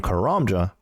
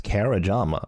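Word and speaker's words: Karamja: could probably guess it, did anyone else mispronounce the name of this island being Kuramja as Karajama? I added an extra A in there somehow.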